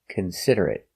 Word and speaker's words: considerate: consider it consider it four syllables the stress is on the second syllable considerate consider it consider